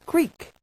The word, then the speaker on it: creek: The word creek, a little brook, is pronounced sometimes with a long E, like peak, and sometimes with a short I, like pick.